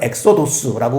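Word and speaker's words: ἔξοδος: 이 엑소더스라고 영어로 발음하는 이 말이 이제 헬라어로는 엑소도스라고 그렇게 돼 있거든요.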